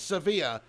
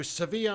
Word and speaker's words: Sevilla: Maxime Walu comments, it's Sevilla. So Sevilla or Sevilla, whatever, which way you want to pronounce it, or Seville.